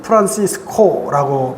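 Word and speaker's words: Francisco: 프란시스라 영어로는 프란시스 그러지만 또 라틴 말로는 프란시스코라고 발음하지요.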